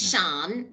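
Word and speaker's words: Siân: My name's Sian. It doesn't look like it should be pronounced Sian. It's Sian, but it's a Welsh name.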